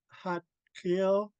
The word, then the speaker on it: Xaad Kil: you know it's um the letter is pronounced between a d and a t um okay uh yeah